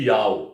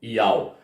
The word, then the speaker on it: Yahweh: pronúncia do seu nome, Yahweh. O Yod é o I, o Re é o A, o Vav é o U.